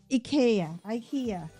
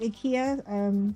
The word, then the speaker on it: IKEA: Okay, some call it IKEA, some call it IKEA, right? So, but I did ask the people from the store when they opened up. I said, "How do you pronounce it?" So they said in the US or somewhere else they say IKEA. But actually where we are it's IKEA, right?